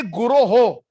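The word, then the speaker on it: guroḥ: the following verse the word is not guru a lot of us kind of mispronounce we say one day guru sri chandra no it is one day guro ho guroho means plural so it it it is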